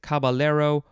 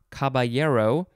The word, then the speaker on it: caballero: And then lastly for this episode, we have, you could pronounce it a couple ways, caballero or caballero, C-A-B-A-L-L-E-R-O. I personally prefer the second pronunciation, caballero, because it is a Spanish word, and then when there's the two L's next to each other, they have a ya sound, like a Y, instead of an L.